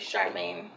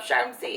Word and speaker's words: Charmaine: um by the way my name's actually Charmaine in real life I hope I didn't make any of you fall off your chair um Charmy is a nickname I know it's spelled like Charmy so you can call me that too I do have a